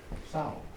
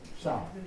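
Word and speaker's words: São Gonçalo: São Gonzales. as in pig. São.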